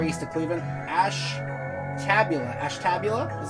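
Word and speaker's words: Ashtabula: turner ohio hour east of cleveland ash tabula ash tabula is how you pronounce that weed what's up my dude miles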